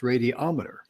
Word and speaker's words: radiometer: put the word meter behind it but it's pronounced radiometer what this thing was it's a little vacuum